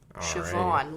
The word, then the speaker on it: Siobhan: Siobhan, lawn. It rhymes.